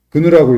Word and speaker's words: GNU: 그룹이 결성돼요.이 GNU 프로젝트 이름이 GNU고 근누라고 읽어요.